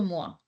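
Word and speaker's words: mois: beauty of French language me is also mua month is also MOA okay yeah it's the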